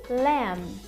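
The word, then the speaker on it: lamb: uma comida também bastante como lá é o Leme tá lendo olha só escreve l a m b Mas a gente não pronuncia o dedo lenço tá é Cordeiro ele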